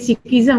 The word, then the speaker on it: Sikhism: Jadi Wan Muhammad Fazrul ingin tahu sama ada how do you pronounce that? Sikhisma, is it? Sikhism. Oh, Sikhism. Oh, because this is in Malay, so dia ada ma di ujung dia.